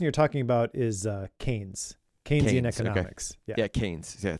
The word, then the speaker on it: Keynes: I I pronounced it the wrong way. That his that person you're talking about is uh Canes.